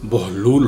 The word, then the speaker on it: بہلول: سے پائمال نہیں ہوئی۔ لفظ بہلول کی ہجے با پر پیش اور ہا پر جزم ہے، یعنی اس کا صحیح تلفظ بہلول ہوگا، اور بہلول کے معنی